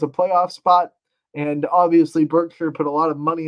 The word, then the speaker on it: Berkshire: And Berkshire, I guess I should say, I think they like it pronounced Berkshire, not a long I there.